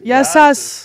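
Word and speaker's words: Γεια σας: Yassas.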